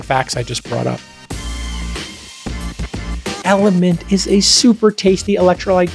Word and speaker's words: LMNT: 60 milligrams magnesium and element which is spelled lmnt has none of the